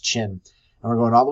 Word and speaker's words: Qin: that is the it's both qim pronounced chin and we're going all